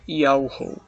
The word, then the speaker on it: Yahweh: E a pronúncia do tetagrama é Yahweh.